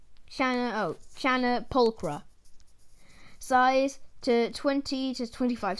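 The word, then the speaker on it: Channa pulchra: Pronunciation, Chana pulchra.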